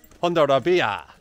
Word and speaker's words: Hondarribia: So the place that we're staying near is called HONDARRIBIA. How was my pronunciation of that, Joe? HONDARRIBIA.